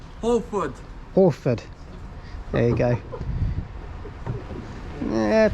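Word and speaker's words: Hwlffordd: Wilford. How do you say it, James? No, it's Holford.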